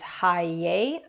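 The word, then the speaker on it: Heye: the Hay brand or I believe the German pronunciation is Hi. I think Hay. Um, but North Americans we tend to call it Hey.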